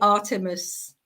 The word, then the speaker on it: Artemis: little bit about and I hope I'm pronouncing his name right if not please correct me um but I Artemis is well it could be you could say that I would say Artemis awesome okay perfect tell us